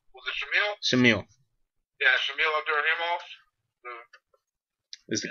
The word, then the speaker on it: Abdurakhimov: The K is silent.